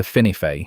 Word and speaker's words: Whinnyfold: Locally, it's pronounced something closer to Whinnyfold, which is the first